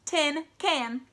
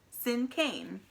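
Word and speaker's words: cinquain: not heard me correctly the word is pronounced like the word sin and Cain sin Cain may cross her arms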